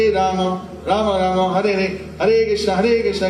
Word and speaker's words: Hare: So, Hare of course is the most common word that is addressing the shakti. Each of these are two-syllable words in Sanskrit. Ha re Ha re Hare Hare